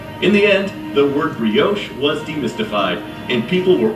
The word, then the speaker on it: brioche: some listeners that i might have said uh biryaki when anyone of taste and breeding knows the proper continental pronunciation being brioche i hope that settles